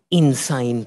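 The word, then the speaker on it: Insein: that I arrived outside Insane Prison. Insane Prison is the great central prison there in Yangon. It's spelt different than the insane that we're used to, but the sound is relevant, I think.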